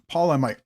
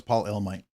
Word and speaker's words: Paul Elmite: Uh, Paul I might or Paul I always say Paul I might but I know it's Paul Elmite.